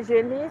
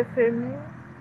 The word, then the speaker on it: Euphémie: C'est pas génie, c'est euphémie.